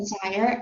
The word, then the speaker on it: gyre: 예, 그 좌이어입니다. 발음이 좌이어. 펀이나 좌이어. Perna in a gyre, and be the singing masters of my soul.